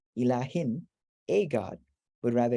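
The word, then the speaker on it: إله: So, you know, like there's no aleph written into the word here, but with the upright vowel, you pronounce it as a lengthened ah sound. This is the lam, ilah, and then what is this?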